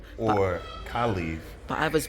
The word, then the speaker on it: Caliph: Because as Caliph talks about his father and how the world perceives what he's done, starts at the top.